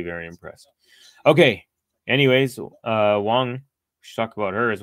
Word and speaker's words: Wang: it I think Mo I think a lot of people do say Wang but it should be Wong and there it is